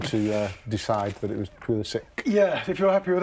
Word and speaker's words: Pulisic: this table, at this table at least, of Pulisic? Well, you're in charge and you seem to decide that it was Pulisic.